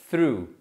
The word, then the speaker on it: threw: Então, olha só, o verbo jogar, arremessar é throw, que no passado a gente pronuncia through. E é a mesma pronúncia da palavra através, que também se pronuncia through.